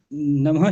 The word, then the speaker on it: नमः: बताया कि हम लोग ह का उच्चारण करते तो ह नहीं बोलना है इसमें ना, जैसे आपने नहीं बोले। नमः शिवाय तो बोला ठीक है, लेकिन नमः शिवाय ह नहीं बोलना है हमको, क्योंकि नमः अर्थ एक शिवाय, तो पड़ जाएगा।